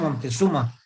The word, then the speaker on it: montezumae: Que es Pinus montezuma. Se escribe Montezumae.